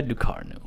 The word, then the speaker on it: Ducournau: other than julia ducarno i looked up the pronunciation of that please spare me julia ducarno french um one hell of